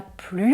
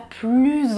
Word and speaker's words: plus: Vous pouvez dire « il n'a plus envie de sortir », c'est aussi correct. Sachez que si vous faites la liaison, ce sera un français un peu plus formel.